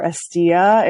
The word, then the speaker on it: Hestia: Uh, the land is called Hestia or Estia in the Greek pronunciation.